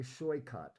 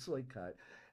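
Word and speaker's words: Saikat: S A I K A T pronounce S H O Y. Showy cut. Showy hyphen cut. Showy cut. Um pronounce say spells it looks like sailcat, but soy cut.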